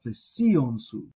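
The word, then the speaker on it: πλησίον σου: And then also you have plesion su, which su is throwing its accent back on plesion, so you're going to pronounce those as if they're one word.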